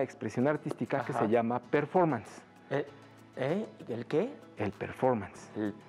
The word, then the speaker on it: performance: Así se escribe, pero se pronuncia performance.